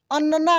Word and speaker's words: अन्ना: कच्छ ठीक है ना अन्ना अन्ना देखिए कैसे अन्ना अन्ना ऐसे नहीं अन्ना यानी न पे जोड़ देंगे सेम अक्षर अगर जुड़ता